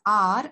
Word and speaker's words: hour: Okay, they spend ஆர் அட் an university. இது HOUR, ஹார், அத ஆனா நம்ம ஸ்பெல் பண்றத எப்படி உச்சரிக்கணும் அப்படின்னா ஆர் அப்படின்னு தான் சொல்லணும். ஹெச் வந்து அந்த இடத்துல சைலண்ட்.